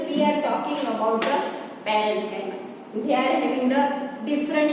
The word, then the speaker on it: parenchyma: See the students, their pronunciations. Parenchyma, collenchyma and sclerenchyma.